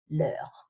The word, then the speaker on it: leur: I've kept the best till last because this one will always be pronounced the same way, leur. Before singular noun, their is leur. Before plural noun, their is leur with an s.